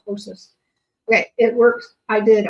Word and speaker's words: ptosis: drooping eyelids is called ptosis. The P is silent. Called ptosis.